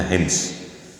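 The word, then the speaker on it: حمص: Wa mata bihamdi Hems, apa daerah Hems ya, bacanya Hems, daerah Hems, pada tahun 54 Hijriah.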